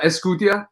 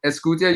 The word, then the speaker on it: Esqutia: with names it's okay it's uh escutia escutia you said it right yeah um uh and